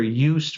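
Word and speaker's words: Joost: there's a book that was written by Dr UST merlu UST is spelled uh j o o s t and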